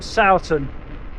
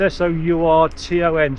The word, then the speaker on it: Sourton: at a place called Sourton. It's S-O-U-R-T-O-N, Sourton, or Sourton, whichever way it's pronounced.